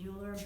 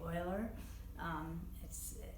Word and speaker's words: Euler: irrational his name was sometimes people pronounce it Euler's but it's supposed to be oiler and it's sometimes called